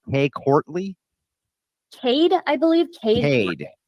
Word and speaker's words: Cade: Kay Courtley? Courtley. I can send you the link to Kay Courtley. Well, I just want to know, is it pronounced Kay Courtley? Cade, I believe.